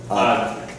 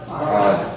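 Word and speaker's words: עד: Dalet, Ad. Like he's a very odd person. All right. Everybody say odd. Ad.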